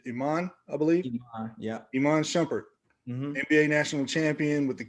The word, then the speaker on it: Shumpert: talented shumpert in the family and am i pronouncing your last name correctly yep shumpert yeah i thought so and any of you